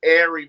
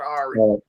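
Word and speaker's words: Aari: go off on you she said her name is airy mcdonald not ours tomato tomato same thing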